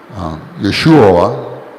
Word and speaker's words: Yeshua: And Lord Jesus Christ, I prefer to call him his Hebrew name, Yeshua. No doubt the angel, when she said his name shall be Jesus, she didn't use the modern English pronunciation. She used the Hebrew.